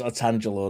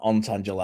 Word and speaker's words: Otangelo: And it is Otangelo, not Ontangelo.